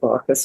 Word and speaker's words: Baucis: like to say it Bacchus because I like to think of Bacchus as the very center of these of these stories.